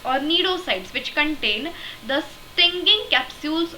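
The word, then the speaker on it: cnidocytes: area is derived from the needle blasts or needle sides which contain the stinging capsules or pneumatocytes see it is actually pronounced as needle needle sides or needle blasts but the spelling is cni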